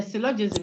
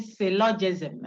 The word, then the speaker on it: syllogism: So the syllogism, you say it as if you wanted to say syllable. Oh. Somebody say, hey, then I'm going to it is there. Relax. You want to say it as if you were saying syllogism, cell, like syllabus. Cell.